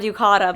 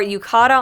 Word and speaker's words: yukata: before I can't remember the word yucata but I've been saying it wrong like the entire trip so we have our Yukata on and we have